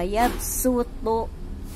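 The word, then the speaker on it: يَبْسُطُ: Nah, ini kita harus membacanya bukan shodnya tapi sinnya. Wa yabsutu fil khalqi bastoh. Jadi bukan bastoh tapi bastoh, yang dibaca adalah sinnya.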